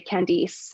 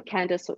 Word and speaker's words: Candice: huge thing for me in the uk people would say candice and although that is how british people would pronounce that name candace they would say candice i said to them